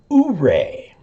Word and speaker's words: Ouray: Utah, of course, is named after the Utes, and there is a Ouray in Utah, but it's pronounced Ouray.